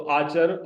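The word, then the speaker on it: آچر: नाम नहीं मिला तो आचर नाम रख दिया उसका। तो आचर, अलिफ मद, अलिफ पर हरकत है मद की, चे पर जबर है, रे पर पेश है।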